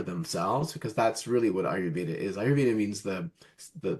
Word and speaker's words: Ayurveda: Um, how do you see I believe it's Uvita, is that how you say it? Ayurveda.